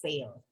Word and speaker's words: Fale: People usually mispronounce the last Sorry. name, which is Fale. So it's Fale.